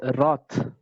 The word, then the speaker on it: wrath: It is pronounced as Roth. Okay, Wrath, Roth.